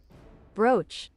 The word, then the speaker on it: brooch: Google how to pronounce BR. Brooch.